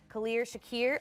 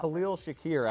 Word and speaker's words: Khalil Shakir: about tight end today so out of virginia clear shakir wait i just totally messed up how many